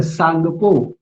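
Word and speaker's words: Tsangpo: अब यहाँ पर इंटर टी है ना, टी को हम क्या बोल रहे हैं, सांगपो, ठीक है। जैसे हम सुनामी बोलते हैं तो सुनामी में आप देखोगे टी साइलेंट होता है, वैसे यहाँ पर आप घबराइएगा मत, है ना, सांगपो स्टार्टिंग में टी आता है उसका, लेकिन वो साइलेंट है।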